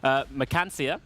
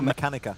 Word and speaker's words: Mechanica: Mechancia. No. We go for Mechanica. Mechanica, there we go.